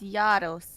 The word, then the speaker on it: Gyaros: It's Gyaros. It's Gyaros. Oh, it's Gyaros? Right? Okay. I think it's Gyaros.